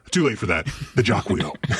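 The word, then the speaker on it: Jaquio: supposed to be pronounced Jacquu to, you know, fold in with a whole French pronunciation of his other name. Uh, but too late for that. The Jacquio.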